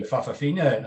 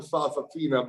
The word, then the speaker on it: Fa'afafina: She is the Fafafina, I think it's the term.